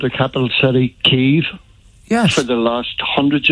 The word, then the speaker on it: Kyiv: The Ukrainians call it Kyiv. Yeah. The West, we in the West and the United Kingdom and America call it Kiev.